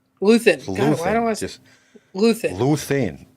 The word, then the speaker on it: Luthen: God, why don't I just Luthen?